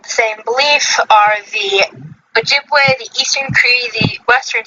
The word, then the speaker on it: Ojibwe: The how do you pronounce it again? Ojibwe. Ojibwe.